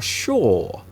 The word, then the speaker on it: sure: And you can hear the pronunciation. So the pronunciation is sh, sh, sh. Sure. Sure.